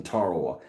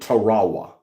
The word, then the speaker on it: Tarawa: World War II and he pronounced Tarawa in a different way. The only time I've ever heard it pronounced other than Tarawa, he called it Tarawa.